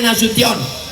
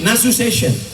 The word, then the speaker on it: Nasution: Cara bacanya Nasution karena ada orang naik pesawat sampai di airport transit dipanggil namanya orang orangor metu. Kenapa? Dia salah dengar waktu dipanggil Nasu Session.